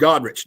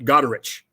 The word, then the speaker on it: Goderich: So I will do stuff for Goderich, let's say. Well, the town is called Goderich, not Goderich, and people will call it Goderich.